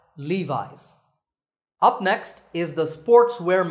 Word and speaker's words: Levi's: founder by the way the name is often pronounced wrongly as Levy's that's not correct remember that the correct way to say it is Levi's Levi's up next is the